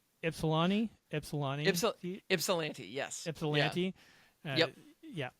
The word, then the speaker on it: Ypsilanti: In the I wrote this phonetically. Ypsilanti. Ypsilanti, yes.